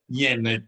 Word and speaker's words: Jan: So, and people think your name's Jan in respect to Yen. We have got a lady called Jan, but it's know. Jan. The German pronunciation is Jan.